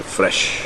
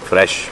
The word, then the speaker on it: FRSH: एक brand launch किया है हाल ही में, उसका नाम है फ्रेश। नाम बिल्कुल क्रिएटिव है। और फ्रेश की स्पेलिंग सुनो, FRSH।